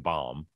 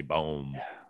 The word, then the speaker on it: Baum: alec baum's pronunciation because you keep calling him bomb and i always say boom boom yeah i i pronounced